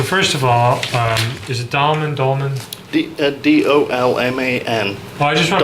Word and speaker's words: Dolman: Okay, so first of all, is it Dolman? D-O-L-M-A-N. Oh, I just want to Dolman. pronounce it right.